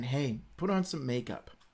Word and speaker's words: Ai: by the israelites yadda yadda and it's it's pronounced hey just use the bethel this would make it